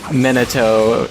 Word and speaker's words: Minato: sounds like you feelin minato nah mcc's was that how you say his name yeah Minato mean it so it was